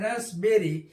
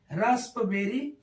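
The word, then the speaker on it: raspberry: है इसका फिर देखेंगे आर ए एस प be double R वाई रसबेरी इसको पढ़ते हैं रसबेरी रसबेरी है रास्पबेरी नहीं है यहां पे भी पी क्या होता है साइलेंट होता है ऐसे ही पी एनई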